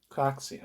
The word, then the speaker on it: Craxi: I'm going to see how you actually pronounce this guy's fucking last name. Craxi.